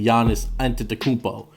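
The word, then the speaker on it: Giannis Antetokounmpo: haven't already guessed you're number one is obviously Yanis entered the kupo and Tim that's how you pronounce it take a look at the screen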